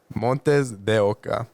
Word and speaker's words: MontesDeOca: You pronounced it all right. It's MontesDeOca. MontesDeOca.